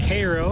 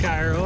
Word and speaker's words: Cairo: john's is the same it's to get past cairo i've been calling it cairo i was informed it's pronounced cairo and that'll put us outside of